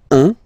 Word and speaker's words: un: Okay, then un. All right, so when you combine this u and n, you get the nasal sound un, un.